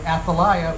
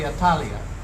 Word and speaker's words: Athaliah: And this is about, we call it, I've been pronouncing it Athaliah, but you say Atalia. Yes, correct.